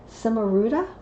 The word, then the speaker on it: Cimaruta: the guidebook, and it's called, I think I'm pronouncing it incorrectly, I'll do my best, Cimaruta. C-I-M-A-R-U-T-A, Cimaruta.